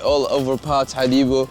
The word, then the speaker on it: Hadibo: Hadibo.